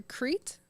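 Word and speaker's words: Crete: to keep going so King Minos ruled over creit right is that how you pronounce it yeah I'm so cool guys that's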